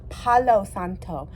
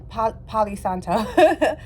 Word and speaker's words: Palo Santo: I need my Palace Palo Santo I'm trying to say it right because I always say palisanto so Palo Santo I'm trying